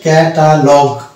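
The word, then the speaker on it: catalogue: Next word হচ্ছে ক্যাটালগ। এখানেও ইউ কিন্তু সাইলেন্ট, কেননা ইউ এর আগে জি আছে এবং ইউ এর পরে আছে ই, এই জন্য এটা হচ্ছে ক্যাটালগ।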